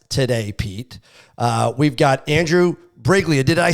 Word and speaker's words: Briglia: We've got Andrew Briglia. Did I say that right, Andrew? You got like the second pronunciation. It's actually a silent G, so it's a Brillia.